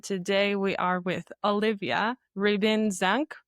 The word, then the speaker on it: Ribin-Zank: And today we are with Olivia Ribbon Zank, right? Did I pronounce that?